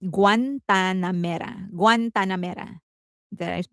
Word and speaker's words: Guantanamera: Um, it is pronounced Guantanamera.